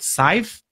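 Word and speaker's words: Cyfe: know there are tools like I think it's pronounced size C Y F EECOM which actually allow you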